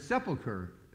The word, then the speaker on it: sepulcher: and said to me, "Pastor, how do you pronounce this word?" And the word was sepulcher. And I said, "Sepulcher, Sadie."